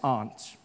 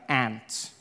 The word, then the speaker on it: aunt: For instance, I pronounce the opposites of uncle as aunt. I say my aunt. Out here, you say my ant, which to me is an insect, which made me look